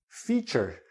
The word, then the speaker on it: feature: If you look at the dictionary, you will find out that this word is pronounced feather. This EA sounds like this E. Feather. This EA sounds like E. Feature.